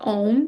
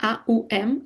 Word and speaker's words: Om: So it starts with A, U, and M, A, U, M, actually. But we don't pronounce Aum, we pronounce Om because of different grammar rules that we're not going to touch right now.